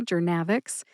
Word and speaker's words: Journavx: Thank you so much to Kelly for picking this drug name today, Jernavix.